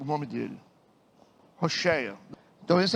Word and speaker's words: Hoshea: E como você pronuncia Rocheia? o nome dele. Hoshea.